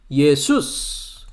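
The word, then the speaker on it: Ἰησοῦς: 예수스. 헬라어 발음으로는 예수스라고 합니다.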